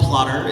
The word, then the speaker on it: Plottr: I also shared, hey, I use this program called Plotter. It's spelled Plottr.